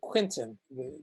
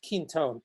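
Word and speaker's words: Quinton: but but still it's it's um it's a quentin it's actually pronounced keen tone q-u-i-n-t-o-n water um um french name i guess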